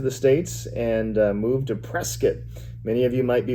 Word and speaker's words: Prescott: people who live there you can always tell if somebody is from Prescott or not by how they pronounce it. But Prescott is where I lived and Like biscuit. Yeah, like biscuit.